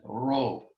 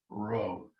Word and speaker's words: rho: which is ro um it's not uh like a spanish but neither is it an english american r it's um an aspirated r uh hero we call it in greek a hard breathing it's this is not p it looks like an english p but it's an r sound rho rho written in english r h o row now next letter is